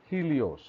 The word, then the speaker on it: HEL1OS: The high energy L1 orbital X-ray spectrometer or Helios or HEL1OS, like Helios, it is pronounced that.